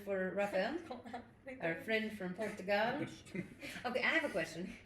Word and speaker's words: Portugal: No, it seems more correct because you're emphasizing the right syllable, right? Because when you say Portugal, you're it's very closed, but we say Portugal. We Yeah. open it at the end.